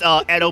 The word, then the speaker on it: Edo: have for bringing an actual, what is that, Odo period? Sword to? I It's don't pronounced actually know his Edo character. period, actually, sir. He does actually, and pushes the glasses up. It's Edo period.